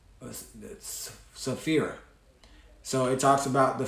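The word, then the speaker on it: Sapphira: uh how do you say her name that's saphira so it talks about the fate of ananias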